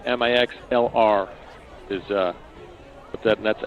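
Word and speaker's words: Mixlr: by searching Metamora softball on mixler pronounced mix lur I'm sorry mix LR is uh with that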